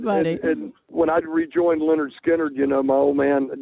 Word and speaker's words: Lynyrd Skynyrd: Medlock of the Bands Leonard skinnard and Blackfoot Leonard skinnard is out with a new album pronounced Leonard skinnard and second helping livee